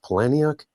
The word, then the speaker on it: Palahniuk: I think it's actually pronounced Palahniuk.